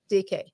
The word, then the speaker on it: Dike: try to call it Dyke but it's pronounced as it's spelled d-i-k-a-d-a-k-e-d-k DK yeah you know what